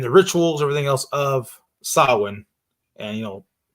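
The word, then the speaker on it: Samhain: at the pronunciation it saw it looks like it's spelled Sam Hayne you know but it actually is in Kelton it's pronounced sauwin okay I'm just gonna say sam Raymond like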